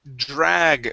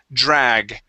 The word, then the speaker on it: drag: word drag first so give me a good a sound there in the middle the word is drag drag okay and with that Dr okay treat that D sort of like a j we make a vibration sort of like if you